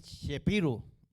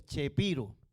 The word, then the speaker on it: Chapiro: Ah no es Es chepiro que se escribe chapiro pero se pronuncia chepiro y cuando fueron a